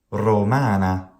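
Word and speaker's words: rōmāna: The long vowel here is not retained phonemically in Italian, so Italians merely say romana, but that's incorrect. That's not good Latin pronunciation. Good Latin pronunciation retains the long vowel. It retains the long syllable.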